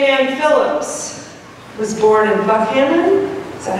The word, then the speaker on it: Buckhannon: Jane Ann Phillips was born in Buckhannon, is that how you say it?